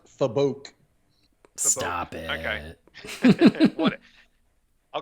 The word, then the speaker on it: Fabok: but I think Jason Faybox. Yeah. Am I saying his name right? That's how I say it, wrong. So I'll allow it. It's pronounced Fabok.